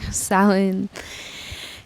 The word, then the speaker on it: Samhain: brief visualization with samhain though it looks like it's spelled samhain selling in mind and spirit and ether right now silen is the eighth and